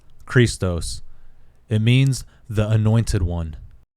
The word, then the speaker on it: Christos: In the Greek language, the letter chi is the first letter in the word Christ, pronounced Christos.